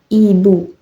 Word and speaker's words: ibu: Contoh pada kata ibu. Pelafalan ibu, vokal I, diucapkan dengan mulut sempit, bibir menyamping, suara nyaring. Ibu. Contoh, ibu. Seperti bunyi I dalam kata minim.